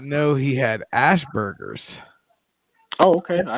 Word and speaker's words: Asperger's: it wrong, and I'm like, "Oh, not Asperger's, Ashburgers." And then when I say Ashburgers, people are like, "You're a dumbass." It's Asperger's.